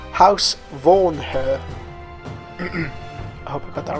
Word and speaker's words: Vornherr: look at how to create and how to pronounce house worn her got that right all begins with a good